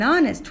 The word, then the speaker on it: honest: have an exception if the first letter of the word is a consonant but it is not pronounced we use before it's an like my mother is an honest woman similarly if the